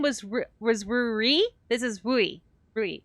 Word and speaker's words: Rui: So Rui was with an R. This is just E. So this is Rui. Yeah, the cat was R-U-R-I, and Rui is R-U-I. They're pronounced very similarly.